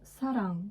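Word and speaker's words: 사랑: Donc par exemple, je vais prendre le mot sarang, qui veut dire amour.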